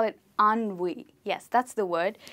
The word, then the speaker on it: ennui: ‘Ennui’ yes that's the word we pronounce it as ‘ahn-wee’.